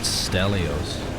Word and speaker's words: Stelios: As I learned from the Prime documentary that you were on, it's pronounced Stelios.